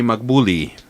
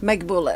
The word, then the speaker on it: Naghbouleh: Henny Fawaz and to in front of me the lovely Magbulli and did I say that right? Magble.